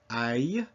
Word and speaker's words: ail: AIL, interestingly enough, is A plus E equals aïe. So the word AIL, aïe, means garlic.